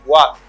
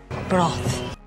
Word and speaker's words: broth: The first way you can say broth. Broth. Versus th. Ça veut dire th ça, il pas gagne vibration là-dedans.